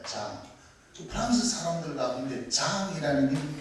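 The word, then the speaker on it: Jean: 프랑스 발음으로 요한이 장입니다. 장.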